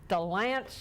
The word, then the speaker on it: Dilanchian: Can I help you out a little bit? Yes. How about Dilanchian? Dilanchian.